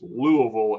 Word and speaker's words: Louisville: the in the in the faster and more slur word you can say it the better just Louisville you can almost make it like one syllable like Louisville and then then perfect then you're nailing it uh especially if you're